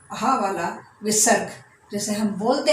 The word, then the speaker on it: विसर्ग: ये अह को हम बोलते हैं विसर्ग। विसर्ग अक्षर। और इसका जो बोलने का तरीका है उसको आधे से बोलना है।